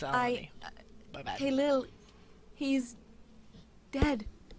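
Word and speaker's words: Elanee: Nope, I've been pronouncing her name as Elaine. It's Elodie.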